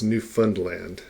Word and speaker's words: Newfoundland: to look at is newfoundland and so it looks like it might be pronounced new found land the people who live there pronounce found more as like fund and so it's new fund land newfoundland and uh one